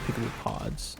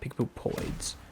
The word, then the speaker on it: Peekaboo Pods: Peekaboo pods. Not peekaboo poids. It's peekaboo pods.